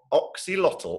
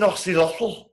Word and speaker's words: axolotl: Number one, the Axolotl at Bedtime. Now, the only reason I know how to pronounce axolotl is because once I went to